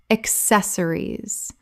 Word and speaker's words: accessories: Word 281, accessories, common mispronunciation, accessories, correct pronunciation, accessories, four syllables with the stress on the second.